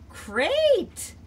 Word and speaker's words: great: We're gonna keep the long A sound, but we're gonna pretend this tricky E is silent. It's gonna be quiet. It's not gonna say anything because sometimes letters are tricky.